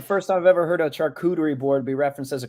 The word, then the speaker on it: charcuterie: watch it's the first I've ever heard of charcuterie board be referenced as a charcucci board I like it I actually like that pronunciation A lot better that got me I